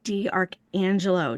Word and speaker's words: D'Arcangelo: I'd like to introduce our guest today, an expert at embracing flow, D. Archangelo. Did I pronounce that correctly?